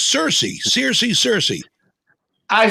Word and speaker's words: Cersei: question is it i've always sort of said circe is it it's cersei seriously cersei i say